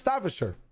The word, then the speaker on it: Staffordshire: You can tell like your fucking North American lips the idea of saying "sure" instead of "shire." I'm trolling. It's Staffordshire.